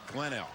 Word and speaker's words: Glenelg: to do that so glenn l on offense second and 12. we have been we've been told that the g is silent that's what i just showed you to read glenn l okay oh yeah yeah